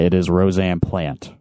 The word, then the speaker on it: Plante: And just to make sure that I am pronouncing your name right, it is Rosanne Plante, right? It's actually Plante, Rosanne Plante.